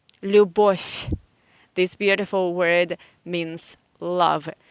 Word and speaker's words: Любовь: So V in the end of any Russian word you pronounce as F. Любовь.